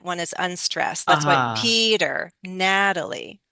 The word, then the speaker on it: Peter: The first vowel sound is stressed. The following vowel sound is unstressed. Will often change the T from a true T to a flap T. It sounds like a D sound like Peter.